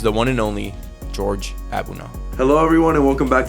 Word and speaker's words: Abunaw: friend of mine George abuna is that how I pronounced your last name yeah abuna ni and simple yeah George abuna how are